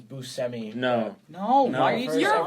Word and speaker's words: Buscemi: I looked it up the correct pronunciation is Buscemi no no no you're